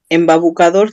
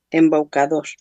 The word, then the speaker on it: embaucador: Embabucador también, pero no se dice embabucador, se dice embucador. Embaucador, no embabucador.